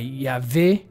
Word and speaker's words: Yahweh: how it's pronounced so often transliteration might be more exactly represented by yave this is the Yahweh